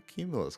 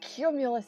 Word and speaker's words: cumulus: Wait, that means cumulus is like... Wait, is the C like a soft C or a hard C?